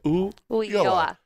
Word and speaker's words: Ulloa: But if you just don't stress on it and just go, oh, yeah, Ulloa. The double L is pronounced as a Y, so Ulloa.